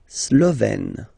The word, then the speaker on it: Slovène: La Slovénie, so only one form here, Slovène, Slovène. Remember, E accent grave, you open it, est, Slovène.